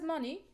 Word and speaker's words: money: it's clear because as money money is a noun so you will stress the first money we don't say